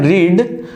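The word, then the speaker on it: read: बट हमें पता है रीड की जो सेकंड फॉर्म होती है वो सेम रहती है, स्पेलिंग में सेम रहता है, बस उसको बोल देते हैं रेड। आई रेड book.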